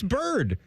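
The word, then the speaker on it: Byrd: B Y It doesn't matter if it's spelled differently. It's bird. B Y R D.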